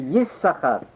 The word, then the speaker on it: Yissachar: you double the sin, and the proper pronunciation, one proper pronunciation would be Yissachar.